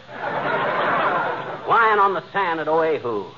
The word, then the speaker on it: Oahu: Lying on the sand at Oahu. That's pronounced Wahoo, dearie.